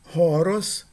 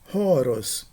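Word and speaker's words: ὅρος: Primeira, horos. Segunda, oros. Na primeira palavra, a primeira vogal ela é aspirada horos. No na segunda palavra, a primeira vogal não é aspirada, a aspiração no primeiro caso e a ausência de aspiração no segundo caso distinguem significados.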